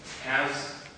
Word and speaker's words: has: Many one syllable word, especially when they have the sound, when they have the letter A, are pronounced like that, with ash.